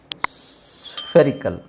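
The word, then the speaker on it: spherical: ನಾನು ಹೇಳಿಸ್ತೀನಿ ಪ್ರಾಕ್ಟೀಸ್ ಮಾಡಿಸ್ತೀನಿ ಆಮೇಲೆ ಎಸ್ ಪಿ ಎಚ್ ಎಸ್ ಪಿ ಎಚ್ ಅಂತ ಬಂದಾಗ ಏನು ಎಸ್ ಗೆ ನಾವು ಸ ಹಾಕ್ತಿವಿ ಪಿ ಎಚ್ ಗೆ ಏನು ಪಿ ಎಚ್ ಗೆ ಫ ಅಂದ್ರೆ ಈಗ ಇವೆರಡು ಅಕ್ಷರಗಳು ಬಂತು ಎಸ್ ಮತ್ತೆ ಎಫ್ ಬಂದಾಗ ಹೆಂಗೆ ಹೇಳ್ಬೇಕು ಸ್ವ ಸ್ವ ಅಲ್ವಾ ಅದೇ ತರ ಸ್ಪಿಯರ್ ಸ್ಪೆರಿಕಲ್ ಓಕೆ ಸೊ ಈ ಎರಡು ಪದನ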